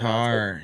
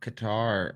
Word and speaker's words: Qatar: Is that over in how you pronounce it? Qatar. Yep, Qatar.